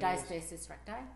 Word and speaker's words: diastasis recti: Now, diastasis, am I saying diastasis recti?